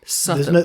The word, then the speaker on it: Sotheby's: Sotheby's. There's no R. No R.